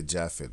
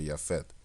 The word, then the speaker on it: Japheth: much like yaphet because we don't say japheth we say yaphet right in the Dutch